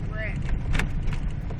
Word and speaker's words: wreck: He said wreck. R-E-C. W-R-E-C-K. W is silent.